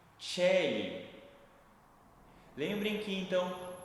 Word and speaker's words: Caeli: juntaremos, ao invés de falar a, falamos e ou quando for uma sílaba tônica, né, que é o ponto forte na na palavra, falaremos e só que antes, claro, temos o cemar antes, eu não falei kell, mas Sim, Chelly.